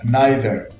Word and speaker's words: neither: The next word is naɪðə, neither, and it is spelled N-E-I-T-H-E-R, neither.